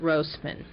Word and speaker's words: Rosman: I have mispronounced her name in the other reels, so it's a long O. We hear it Rosman.